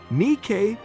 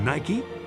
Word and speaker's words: Nike: Before we move on to our next topic, did you know the correct pronunciation of her name is Nike and not Nike?